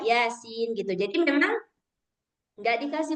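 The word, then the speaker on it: يس: atau misalkan Yasin gitu tulisannya itu huruf ya dan sin. Nah, maka dibaca Yasin gitu.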